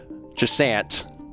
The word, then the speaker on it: Jusant: you for that uh they did say that you could pronounce it like jant for for English audiences since I'm I'm uh